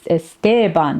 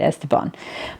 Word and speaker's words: Esteban: It's like, well, I mean, that's how you pronounce it, but you know, in Spanish, where the name originated and based on our grammar rules, it's Esteban, not Esteban.